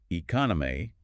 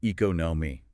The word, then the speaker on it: economy: Instead of saying economy, you might say economy.